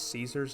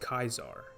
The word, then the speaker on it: Caesar: English in their vocabulary in classical Latin there was no Soft C Sound it was always pronounced as a K in turn they pronounce Caesar's name as kaisar people people outside of